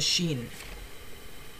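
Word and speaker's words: شين: the Arabic Sheen is pronounced like the sh or the sh in the in the English word shop it is written like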